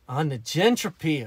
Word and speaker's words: negentropy: Ah, negentropy.